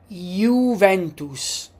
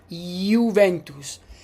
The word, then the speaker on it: Juventus: How do we pronounce this word? Pronounce it. Uventus. Juventus. So the J could be Y or J.